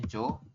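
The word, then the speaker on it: 좋다: Kemudian yang terakhir ini tulisannya Johda tapi kita bacanya hanya Jo.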